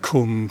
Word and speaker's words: Combe: If you look at the Domesday Book, you'll see the village of Combe, pronounced C-U-M, with a mill.